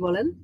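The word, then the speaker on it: ب: তারপরে উচ্চারণ করব বা। বা উচ্চারণ করার সময় ঠোঁটটা স্বাভাবিক থাকবে, তারপরে হঠাৎ করে শব্দটা বের হয়ে আসবে বা। ঠোঁটটা খুলে ফেললেই বা উচ্চারিত হয়ে যাবে, বা।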